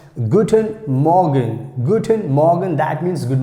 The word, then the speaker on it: guten Morgen: like here you can see guten morgen guten morgen that's how we have to pronounce guten morgen guten morgen that means